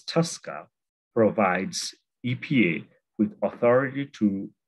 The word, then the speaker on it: TSCA: The Toxic Substances Control Act, pronounced as TSCA, provides EPA with authority